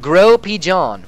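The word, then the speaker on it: Gros Pigeon: Gross Pigeon is pronounced more like Grow Pigeon.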